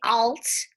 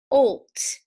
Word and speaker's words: old: closed syllable exception because we don't say alts we say olt it has a long vowel so it's called a